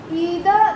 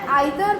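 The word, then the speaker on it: either: अम इज इदर त आइदर भी कही पबो इदर भी कही पबो both द pronunciation and right so यू कैन से इट यू can pronounce it ऐज़ इदर और आइदर नीदर और नाइदर तो तुमको जोड़ा भगबो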